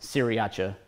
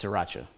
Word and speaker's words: Sriracha: that's in there and it's not pronounced CIAA it's Sriracha just in case you're wondering uh We've also got